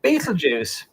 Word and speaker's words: Betelgeuse: So, what we got Beetlejuice, American pronunciation.